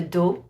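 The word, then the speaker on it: dos: thinking about the back a back is a do d o s or a son a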